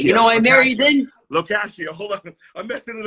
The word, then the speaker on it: Lo Cascio: That would be Locascio, sir. Locascio. Locascio. Locascio. You know, I married in. Locascio.